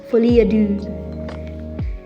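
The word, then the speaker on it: folie à deux: we're gonna open a how to pronounce foliadou because they know the ax is silent so much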